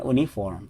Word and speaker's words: uniform: Ditulisannya kan uniform tapi dia dibacanya uniform gitu.